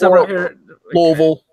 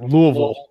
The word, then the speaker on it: Louisville: so Louisville okay well about dressing you S is silent I've heard it it's like this Louisville yeah those are you in there Louisville ul at the end Louisville if your friend